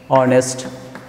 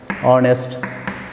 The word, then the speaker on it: honest: to uh mute h we should not pronounce h so that's going to